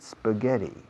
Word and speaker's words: spaghetti: How often do you eat spaghetti? How often do you eat spaghetti? Fijaos en la pronunciación de la SP de spaghetti. No pongo una E delante, no digo spaghetti.